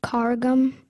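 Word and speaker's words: karagum: Am I saying it correctly? Carrigum? Yes, I believe so.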